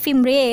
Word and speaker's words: fimbriae: ini namanya jari-jari fimbria tulisannya fimbriae tapi dibacanya fimbriae ya ditangkap oleh jari-jari